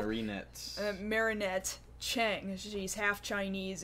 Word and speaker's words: Marinette: name to indicate that you might notice it's just Marinette uh it would make sense if it was marionette but it does not appear that that's how her name is spelled Marinette Marinette Chang she's half